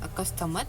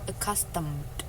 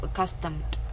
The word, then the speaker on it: accustomed: Kemudian yang accustomed itu bukan accustomed, tapi accustomed. Iya, jadi dia bunyi deh-nya itu hanya deh gitu, accustomed.